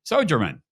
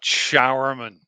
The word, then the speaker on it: Sjouwerman: of no before soan did I butcher your last name you did you pronounced it not Rainman but showerman easy not the Rainman but the shower man there okay that I'll